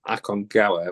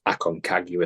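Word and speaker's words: Aconcagua: when I did the akong gawa which is the Spanish pronunciation because I learned about it in Peru or learned more about it it's Akon kagu is the way British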